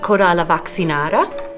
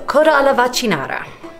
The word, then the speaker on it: coda alla vaccinara: with the contessa uh cora la vaccinara nope that is not how that's pronounced sorry we live in a world of pandemic and vaccinations are high on the list the root of those words is actually the same but yeah so coda vaccinara enjoy ps so